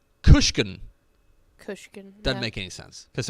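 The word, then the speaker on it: Guisachan: it's the uh the weight spell is g-u-i-s-a-c-h-a-n-g-u-i-s-a-c-h-a-n pronounced kushkin doesn't make any sense because it starts with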